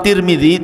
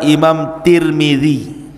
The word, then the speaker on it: Tirmidzi: Dan ada yang kemudian membacanya tarmiz, ada turmud, ada Tirmidz. Jadi ada sebagian ulama mengatakan Imam Tarmadzi, ada yang mengatakan Imam Turmudzi, ada yang mengatakan Imam Tirmidzi. Walaupun yang masyhur adalah Imam Tirmidzi ya.